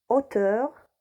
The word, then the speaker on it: hauteur: haricots ont dit le haricot héros le héros hauteur la hauteur je répète voilà quelques exemples 2